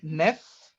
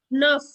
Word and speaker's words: neuf: Is it nef? Nuff. Nuff.